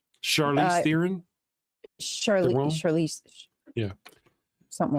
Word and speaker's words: Charlize Theron: stupid ball moments that I thought, like when Sharon Theron, she dies. Sharon, how do you say her name? Charlize Theron.